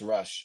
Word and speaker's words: Rush: so OA somebody said that Ruth Rush it's Rush okay Rush not Ruth okay some good ideas